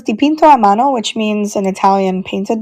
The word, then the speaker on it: dipinto a mano: And it says dipinto a mano, which means in Italian, painted by hand.